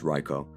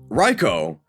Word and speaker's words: Raikou: I do live in Japan. It's Raikou. Raikou.